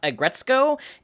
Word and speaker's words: Aggretsuko: After further research, I've discovered that it's actually pronounced Aggretsuko, and she is a red panda, not a cat.